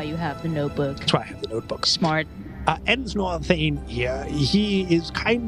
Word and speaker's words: Ensnor: Nor Thane? Ensnor Thane. What? Ensnor? How do you spell it? E-N-S-N-O-R, Ensnor Thane.